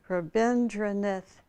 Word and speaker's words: Rabindranath: heart verbendre north tagore i always have trouble pronouncing his first name rabindranath tagore it said faith is the bird that